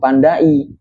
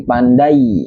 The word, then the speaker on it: pandai: Tapi bukan pengucapannya itu pandai, tapi digabung menjadi satu seperti Y, jadi pandai bukan pandai, dan itu yang disebut dengan fonem diftong.